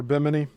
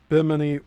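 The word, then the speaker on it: Bimini: One discovery on Bini or Biminy. I keep trying to get it right. I I'm pretty sure it's biminy, but correct me if I'm wrong.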